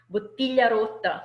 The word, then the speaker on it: bottiglia rotta: So bottiglia rotta, again, the same sound, so the same double consonant of the T that is repeated in a little sentence.